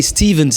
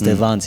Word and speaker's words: Stevans: "Hey, Stevens," but finally the real way to pronounce it is Stevans, Stevans. If you don't say the Stevens, like they say in French on the radio, okay, on accueille the Stevens, nope. Wrong again.